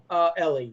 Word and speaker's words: Eli: So it's spelled E-L-I because that's the beginning of Elijah. It's not E-L-L-E Eli. It's E-L-I Eli.